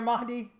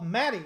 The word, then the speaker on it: Mahdi: grow healthy food my my pronouncing of your name is good there mahdi um oh maddie like cat like cat okay gotcha i appreciate it